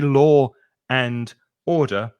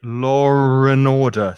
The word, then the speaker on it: law and order: thing about the pronunciation there's an intrusive r don't go that way